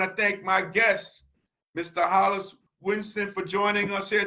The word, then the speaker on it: Hollies: brooklyn park mayor and my name is spelled h-o-l-l-i-e-s so hollis winston for brooklyn park mayor